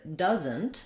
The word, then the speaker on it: doesn't: Then when we looked at the word doesn't, we have a different spelling, but you can notice the same sound. So it also has a schwa and a Z and an N. It sounds like doesn't, even though it's spelled differently, and we have the letter S saying Z. So that's one thing to watch out for in the word does and doesn't, that S says Z.